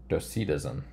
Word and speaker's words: Docetism: It does not tell me how to pronounce this word. I want to say, oh, here we go. Docetism.